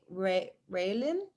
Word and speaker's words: Raylin: Raylin. Sorry. You want to go next? Yeah, you pronounced it correctly. It's Okay, thank Raylan.